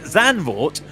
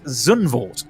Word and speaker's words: Zandvoort: the F1 Grand Prix at Zandvoort, which is how you say it, Zandvoort, somebody decided to go with the whole BBC way and go, and today the F1 Grand Prix will take place at Zundvoort.